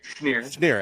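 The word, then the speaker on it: Schnier: Schneer.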